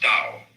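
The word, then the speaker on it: 道: for those who came to this point what is that who understand and it is as I said the counterpart of Confucianism and it's called Daoism this character in Chinese is pronounced Dao T you would think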